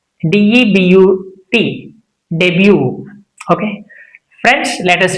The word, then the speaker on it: debut: D E B U T debut.